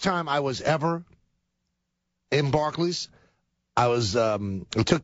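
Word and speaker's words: Barclays: b a r c l a Ys it's pronounced Barkley right and it's not supposed to ever have the th in front of it so it's bar barlay Center well now you had me saying barlay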